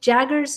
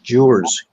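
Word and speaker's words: Gewers: Hopefully Mark is going to host, and we've got some Rick Jaggers is coming. Rick, did I say his name right, Dawn? Rick, what's his name? Rick Jewers, G-E-W-E-R-S.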